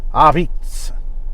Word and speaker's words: Apizza: a a little bit the a isn't like totally silent i think it's like it's not our beats it's avitz like you you kind